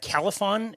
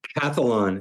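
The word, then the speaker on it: Calphalon: I'm gonna I'm gonna mess up the brand Califon is is that the brand of of pan cathlon is how it's pronounced perfect okay so I had purchased their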